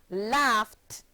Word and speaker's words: laughed: The ed ending of unvoiced or voiceless sounds take on a t sound when placed at the end of verbs. Here are some examples. The verb laugh, laugh, becomes the past tense verb laughed and is pronounced laughed, forming only 1 syllable.